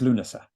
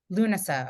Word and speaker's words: Lughnasa: So let's talk about dancing in Lunessa. Am I pronouncing it correctly? It's Lunasa. Lunasa.